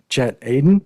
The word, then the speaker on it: Chet Aden: so without further ado i make sure i pronounce the last name correctly chat aidan you got it all right chad aiden welcome